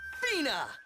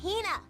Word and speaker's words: Hina: archaeologist, Fina. Ugh, you keep saying it wrong. It's Hina.